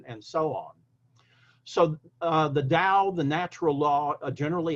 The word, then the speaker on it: Tao: Now, in ancient, 19th century, early 20th century English interpretations of Chinese, it was spelled T-A-O, but it was always pronounced as in D-A-O.